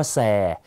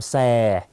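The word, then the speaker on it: xe: นะ รถ ภาษา เวียดนาม ใช้ คำ ว่า แซ ออก เสียง ตาม แซ ต่อ มา แซม ไหม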